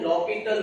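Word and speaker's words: L'Hôpital: इसे लिखते हैं हम एल हॉस्पिटल रूल लेकिन पढ़ते हैं लॉपिटल रूल। यहाँ पे एच क्या हो जाएगा, साइलेंट हो जाएगा।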